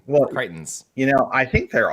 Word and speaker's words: Crichton: i like this so the reason i put up creighton is because rhymes with chitin yes and crichton was